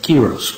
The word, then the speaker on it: Quiros: "Am I pronouncing your last name correctly? Qui-ros?" "KEE-ros, Mr. Quiros, okay."